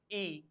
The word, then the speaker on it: y: Y means e. The pronunciation of y is e, and the meaning is and.